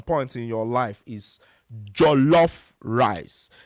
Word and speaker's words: jollof: heard at some point in your life, is Jollof rice. J O L L O F, and then rice.